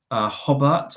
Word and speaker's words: Hobart: I've got plans, ideas, places I want to see, but essentially it's Brisbane, Sydney, Port Arthur, Hobart, I think it's pronounced, which is in Tasmania, and Melbourne as well.